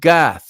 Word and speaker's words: Gath: Israel the city of gath or gut as it's called I guess it's spelled